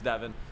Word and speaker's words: Devon: You did not think they were taking Devon Witherspoon or Devin Witherspoon. I have to figure out how to pronounce that correctly, but I'm pretty sure it's Devin.